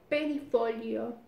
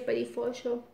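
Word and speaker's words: perifollo: Kerbel o perifolio. Se lee perifolio. Pero sería perifolio.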